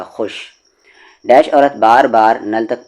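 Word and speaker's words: خوش: है बूढ़ी औरत खुश खुश में वाव लिखा जाता है लेकिन व वाव हमेशा साइलेंट होता है खुश हो गई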